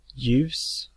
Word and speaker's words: ljus: And lastly, we have the silent L. Ljus, ljud, ljuv, ljummen.